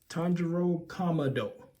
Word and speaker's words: Tanjiro Kamado: in yep there we go have it set Tano commo that's how you say it me make sure